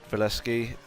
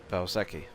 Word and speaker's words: Valsecchi: But yeah, David Valeski, I don't really know anything about him, other than I'm actually pronouncing his name wrong. It's David Valsecchi.